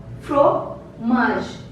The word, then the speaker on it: fromage: Second, fromage. Fromage. Fromage means cheese. Fromage. E is silent here.